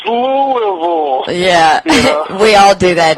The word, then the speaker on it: Louisville: laughing and I tell you what anytime somebody mispronounces Louisville it's just my favorite line for that movie I'm always like it's Louisville yeah we all do that don't we I